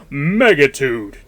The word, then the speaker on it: Megatudo: Now, it's it's spelled Megatudo. I think it's actually Megatude, though, cuz whenever you start the game, there's literally like an Optimus Prime voice that kicks in and it literally goes Megatude 2096.